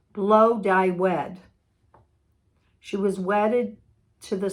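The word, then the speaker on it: Blodeuwedd: this coming week oh it's pronounced blow dye wed she was wedded to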